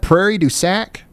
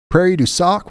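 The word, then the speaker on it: Prairie du Sac: Is that Prairie Dac? Prairie D sock.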